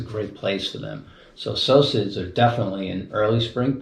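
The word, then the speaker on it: psocid: P-S-O-C-I-D-S. Yes, it's a socid.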